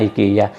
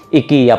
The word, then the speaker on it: IKEA: Hindi pala IKEA ang tamang pronounce niyan pag nasa ibang bansa. Nakasanayan kasi natin sa Pilipinas na IKEA. IKEA pala 'yun.